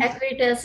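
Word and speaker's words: Acuitas: can say this, Acutes, and maybe Noeen can pronounce it for me. Acutes, yeah, that's correct, Acutes.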